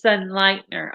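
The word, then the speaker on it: Sonnleitner: calls you sun lightner so it's sun lightner okay i was saying it wrong can you spell that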